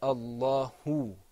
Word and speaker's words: اللَّهُ: Now if you notice that there is on top of the ha a dhamma. So remember when I pronounced it I said إِلَّا مَا شَاءَ اللَّهُ. Remember? I had that dhamma sound.